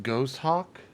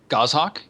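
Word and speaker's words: goshawk: second I call my I guess this is pronounced ghost Hawk gohawk gohawk okay yeah I call my gohawk Apollo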